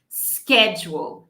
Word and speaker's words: schedule: Eu vou pronunciar com esse sk, tá vendo a letra K aqui? Esse é o k. Schedule, schedule, schedule.